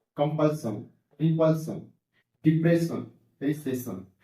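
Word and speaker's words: compulsion: और यहाँ पर देखिए कॉन्सोनेंट प्लस SION सन, तो कंपल्सन, रिपल्सन, डिप्रेशन, रिसेशन।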